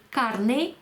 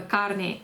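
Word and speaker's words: carné: знаєте чому тому що не звернувши увагу на наголос вона намагалася доказати що їй треба карні карні А карни - це м'ясо тому будьте уважні будь ласка наголоси в іспанській мові грають неймовірну роль лякарни - це м'ясо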